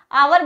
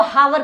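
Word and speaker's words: hour: आवर बोलते हैं, ऐसा कौन सा बच्चा जो इसको हावर पढ़ता है? नहीं, ये इसकी प्रोनाउंशिएट है, प्रोनाउंसिएशन इसकी है आवर।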